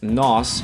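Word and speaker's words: nós: to we in portuguese nos so this o has an accent going up so it's ah it's not an o nos nosfalamos it's nos falamos so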